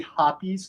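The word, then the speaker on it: Hoppe's: is actually hoppies not hops I just said hops my entire life I always called it hops but but it is actually pronounced hoppies if you talk to anybody that works for that company um yeah I'll remember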